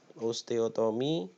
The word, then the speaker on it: osteotomi: Osteotomi, jadi pengucapannya adalah osteotomi, ya, merupakan tindakan pembedahan, ya, pembedahan dengan sayatan pada tulang.